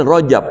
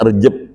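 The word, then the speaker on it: Rajab: Asli Rojab pakai ro. Sampai ke kita Rejab.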